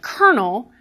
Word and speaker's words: colonel: If you think about a word like colonel, which is spelled with an L and said with an R, we are willing to accept spellings that don't correspond with pronunciation, and we will return to that.